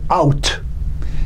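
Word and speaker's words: אות: The Hebrew word for word is out. It's spelled Aleph Vav Tav, or in English it'd be A-U-T.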